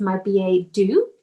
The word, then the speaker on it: My Billet Doux: first time this is natalia her company is my ba do is that the correct way to pronounce yeah i've had some practice i must